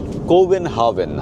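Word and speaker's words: København: ইংরেজি প্রোনাউন্সিয়েশন আমরা এটা বলি। কিন্তু লোকালরা এটাকে বলেন কোভেন হাভেন।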